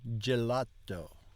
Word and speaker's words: gelato: letter g v un gelato when the letters G and G G are F followed by an i or E they sound like the G in gelato G vioo oh it's